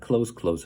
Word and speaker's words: clothes: 그 다음에 옷이라고 할 때 clothes는 가까운이라고 할 때 close하고 발음이 똑같아요. 그냥 close 하면 됩니다.